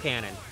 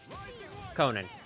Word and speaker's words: Conan: Detective Cannon. Conan. I never pronounce that right.